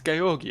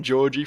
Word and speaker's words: Georgi: I've been calling him Georgie for a while now. I initially thought it was probably Georgi because that, I don't know, that just sounds like a more Russian pronunciation to me, but it's nice to have clarification on that.